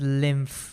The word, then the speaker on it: lymph: lymph all right and it's pronounced it's pronounced as pronounced as lymph with a with an f over there so how is lymph